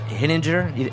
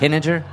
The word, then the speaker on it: Hinninger: Hinninger, am I saying that right, Timmons? Oh, that's perfect. Hinninger, Reed Hinninger, our head chef.